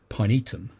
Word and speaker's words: pinetum: but it's actually pronounced pinetum um which again sounds very Latin which is actually means